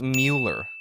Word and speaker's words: Mueller: Well, my friend Mueller, that's how you say your last name properly, right? Mueller.